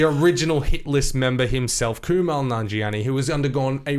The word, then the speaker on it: Kumail: So one of the images is Kumail Nanjiani, however you pronounce his first name. Apparently it's Kumail. I say Kumail as well.